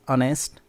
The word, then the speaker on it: honest: first letter yet but the first letter H is silent in honest we do not say honest it is honest so an honest man